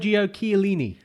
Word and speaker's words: Giorgio Chiellini: Giorgio Chiellini.